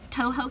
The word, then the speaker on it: Toho: Okay, we are Toho carriers. Okay, so that is spelled T-O-H-O.